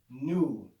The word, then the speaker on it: nu: in english or latin nu it's pronounced with the classical n sound so you're going to